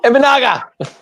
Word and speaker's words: Imanaga: Imanaga.